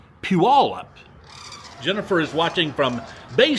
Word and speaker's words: Puyallup: We called the city Puyallup. I think that's the right pronunciation. He says the city in Washington is pronounced Puyallup.